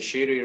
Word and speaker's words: Shire: How do you pronounce it? The Shiri River.